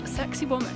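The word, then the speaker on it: Sacsayhuamán: going up with to an archaeological site that pronounced a sexy woman we shoot some coca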